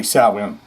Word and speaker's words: Samhain: Glenn Danzig, don't say Samhain. He says, Sam Hain. I'm in a band called Sam Hain. I ain't in Samhain.